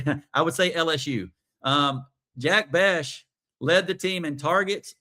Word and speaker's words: Bech: But I don't know if it's Bech or Bech. I'm going to call him Bech, B-E-C-H.